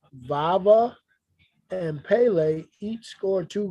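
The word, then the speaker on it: Vavá: roshunda Stadium Stockholm Swede I think it's pronounced vava and Pele each scored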